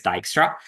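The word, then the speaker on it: Dijkstra: Uh but for the record, it's it's it's it's Dyra.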